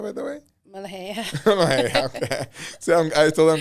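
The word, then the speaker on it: ملوخية: how you say it, molokhaya, by the way? Mulhay.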